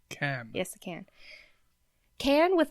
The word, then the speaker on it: Cannes: There's several letters in there then that are silent.